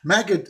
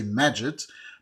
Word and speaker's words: Magid: Magid is pronounced in the Egyptian way. The classical Arabic we say Majid, but for very funny,